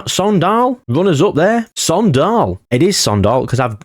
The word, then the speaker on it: AIK: for Sweden s s Sall Runners up there Sall it is Sall cuz I've had a look